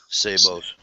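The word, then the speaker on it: sabot: to talk like you saos the t is silent saos saos T silent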